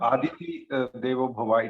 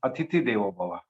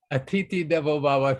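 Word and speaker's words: अतिथि देवो भव: is not Aditi Devo Bhava, it is Atiti Devo Bhava. Atiti Devo Bhava.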